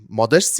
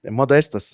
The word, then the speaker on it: Modestas: Runātāji šodien būs Modests, ja es izrunāju. Did I pronounce it correctly in Latvian? Or Modestas, or Modestas, sorry. Yes, I have it written down in Latvian, so it's Modestas.